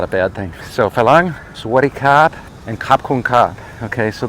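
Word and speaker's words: ฝรั่ง: a r a n g but the Tai pronounce it Fang and a Fang is I wouldn't call it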